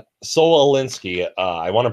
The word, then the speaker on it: Saul Alinsky: Oh, Saul Alinsky. Solinsky. Saul Alinsky. I want to pronounce that correctly.